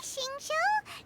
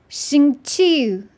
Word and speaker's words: Xingqiu: The way they keep dragging out Chiu, Xingqiu. It's one syllable, guys. Chiu.